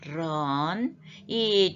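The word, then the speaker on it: 人: 두 글자가 붙었습니다 그냥 런이 중국어 알 발음은 아르론 h 소리가 좀 있어요 그래서 바람소리 목구멍 이런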